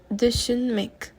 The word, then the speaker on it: düşünmek: We have to be very careful with this U with the 2 little dots on top. The pronunciation is different from the regular U, which is U. So the U with the dots would be more similar to Ü. So düşünmek. Number 19, feel, hissetmek, sentir.